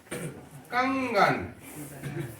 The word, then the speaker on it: कंगन: अगर हम लिखते हैं कंगन, क्या लिखते हैं? कंगन, कंगन, तो इसका उच्चारण क, अंग और ये होना चाहिए कंगन, ये हुआ कंगन, कंगन, कंगन, ये उच्चारण हो गया।